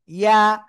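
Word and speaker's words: ياء: অনেকে বলবেন কি ইয়া, না, ইয়া হবে না, এটা হবে কি ইয়া, ইয়া।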